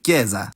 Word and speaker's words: chiesa: Simply adding H is how you'd negate this pattern and give the consonants their hard pronunciation, also demonstrated in chiesa. In fact, outside of loanwords